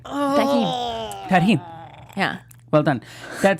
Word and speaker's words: tahini: Even Tarjine. I said it wrong. Tahini!